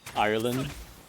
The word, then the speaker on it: Ireland: The D at the end of land is also silent. Ireland.